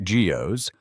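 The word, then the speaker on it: guyots: When early crude sonar systems first detected some of these, especially the ones called guots, pronounced geos, the public imagination, already primed for mystery, went into overdrive.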